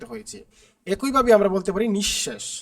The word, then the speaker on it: নিঃশেষ: একইভাবে আমরা বলতে পারি নিঃশেষ নিঃশেষের মধ্যে কিন্তু দেখো এখানে তালবস এর আগে কি বিসর্গ দুইবার আছে কারণে তালুবশ্য দুইবার উচ্চারিত হয়েছে আশা করি তোমরা বুঝতে